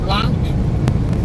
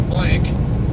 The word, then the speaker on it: Blanc: I'll be picking up at Blanc Vineyards. Most of you guys might pronounce it as Blanc, B-L-A-N-C, but it's Blanc. It's I think it's a French word.